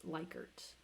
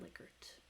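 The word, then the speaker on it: Likert: you have um by the way this is pronounced lykert not lickert it's somebody's name that is associated with this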